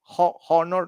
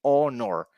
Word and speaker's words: honor: You don't say honor. No, you say honor. H, silent H.